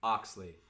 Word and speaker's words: O.XLI: O.XLI. Even though it has a dot in there? It has the dot just for aesthetic.